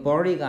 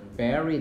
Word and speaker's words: bury: 이거 bury가 아니고 발음이 뭐다? bury them.